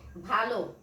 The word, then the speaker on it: ভাল: এই ভয় আকার ল, এটা কিন্তু ভাল উচ্চারণ হবে, ভালো উচ্চারণ হবে না।